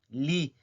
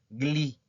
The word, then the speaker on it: gli: Li. Acuérdense del tip que les di. No se pronuncia gli. No, eso está mal. Nada más hagan de cuenta que no existe esta G y dicen li espumanti.